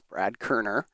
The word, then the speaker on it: Koerner: His last name is pronounced Koerner. It says that right on the bio there, so I'm just letting everybody know it's Brad Koerner.